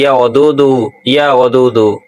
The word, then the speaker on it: ইয়া ওদুদু: উচ্চারণ করলে বলা হয় ইয়া ওদুদু, অর্থ হলো অত্যন্ত প্রেমময়, সবার প্রতি অগাধ ভালোবাসা ও করুণা প্রদর্শনকারী।